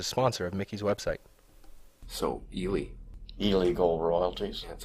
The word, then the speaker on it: Ely: So, Ely. Ely Gold Royalties. Yeah, that's how you say it? Ely, Nevada. That's It's named after the town of Ely, which is a famous mining town, Ely, Nevada.